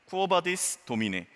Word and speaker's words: Quo vadis Domine: 그래서 이 영화 제목 쿼바디스라는 부분은 원래는 조금 더 정확한 발음 라틴어예요. Quo vadis Domine라는 단어입니다. 이 Quo vadis Domine라는 단어는요, 이렇게 해석이 됩니다. 주여 어디로 가시나이까? 라는 단어예요. Quo vadis Domine.